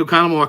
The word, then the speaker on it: Oconomowoc: And the reason I'm pronouncing Oconomowoc correctly is because I used to live there.